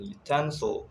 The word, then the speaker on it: utensil: For instance, in template, we stress the first syllable, and in utensil, we stress the middle syllables.